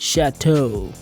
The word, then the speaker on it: Chateau: fancy Ford version van it's pronounced Chateau I think they look really sweet